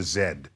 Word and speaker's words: Z: and so they get they pronounce it in the way that the British say our letter Z so it's called the W and the Z particle all right now